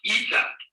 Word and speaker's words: eta: It is pronounced E, that is a long E, as in obey.